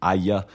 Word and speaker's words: AIA: So basically, Tottenham's sponsor, AIA, in Italian you pronounce it AIA, which is like ouch in English.